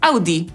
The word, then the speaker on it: Audi: Wyjątkowo prostą w wymowie nazwą jest Audi, ponieważ, o dziwo, mówimy po prostu /ˈaʊdiː/.